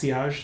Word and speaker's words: sillage: It's spelled sillage, but it's pronounced sillage. It's a French word, and that is all about the projection.